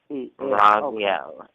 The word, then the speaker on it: Raziel: How you spell that? You said Raziel. That is R-A. That is R-A-Z-I-E-L. Raziel.